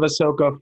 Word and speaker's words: Ahsoka: Yeah, and it is well done, and Ahsoka really Ahsoka, shines in this. Right? The H comes before the S.